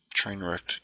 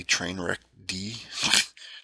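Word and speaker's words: Trainwreckd: be cool with the name of the channel train wrecked comic fandom for life most people can't pronounce the train wreck right it's usually they'll say train wreck d train wreck d let me do just a little more here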